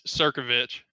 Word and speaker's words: Circovich: knew that was coming yeah it's circovich just how it's just how it's spelled all right awesome yeah